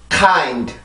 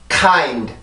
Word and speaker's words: kind: K 발음은 혀의 뒷부분을 이용해서 연구개를 막아주는데, 이때도 마찬가지로 그 연구개를 막아주는 혀의 힘을 더 강하게 눌러줌으로써 내가 공기의 힘을 강하게 만들어주는 거예요.